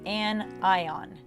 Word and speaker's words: anion: now an anion is negatively charged not onion and ion i was trying to draw an onion i'm an artist you know it so the onion is negative so it's crying so cation positive and ion negative an ion if you don't remember is